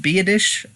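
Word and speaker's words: Biadasz: name because I mean as it's polish spell BIA das Z and it's pronounced be a dish I don't know how that works but you know what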